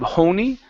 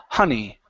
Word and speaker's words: honey: have the word honey instead of Hony it's h honey honey okay good and our